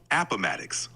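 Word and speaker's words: Appomattox: know it's called Uh otmx uh Virginia what's the what's the correct way of saying that it's pronounced atics Virginia glad to help if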